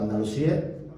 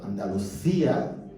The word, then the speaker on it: Andalucía: algunas cosas de hecho Andalucía se lo pronunciamos con c sonido Z Porque eran cc anes pues y no tenían que haber pronunciado Andalucía porque Andalucía viene de andaluz con ese final Entonces como er c antes